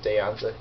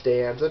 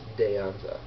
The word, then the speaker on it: De Anza: covering dan's a jig he pronounces it deonza he didn't know i mean we know it's de anza because we live here and if you pronounce it the spanish way it really is deionza so great time was